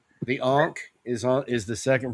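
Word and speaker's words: ankh: The ank is on is the second from the left. The it's it's pronounced ank.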